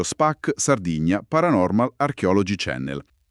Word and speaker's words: Spac Sardigna: canale YouTube Spac Sardigna che si legge proprio Spac Sardigna Paranormal Archeology Channel.